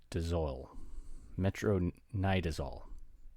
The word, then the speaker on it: metronidazole: difficult to pronounce but i'm going to try it metro knee desol metronidazole oh that's it metronidazole but i like metro